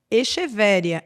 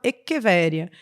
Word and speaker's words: Echeveria: fico detalhando por exemplo o vendedor na loja vai chamar uma determinada planta de echeveria echeveria e vai ter gente que vai achar inclusive que escreve com x só que o nome é na verdade pronunciado eqveria e aí eu não